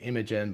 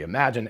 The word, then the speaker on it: Imagen: out is actually pronounced imagine i thought it was actually imogen because it's spelled i-m-a-g-e-n so i thought it was imogen but it's actually imagine anyway that's got about